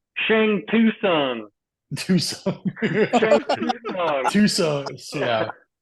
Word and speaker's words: Shang Tsung: lad, they were like, Shang Tsung. Tucson. Shang Tsung. Tucson. Yeah. Did I say that? I did. I'm not gonna lie, until I was corrected, and then I was like, okay, T is silent.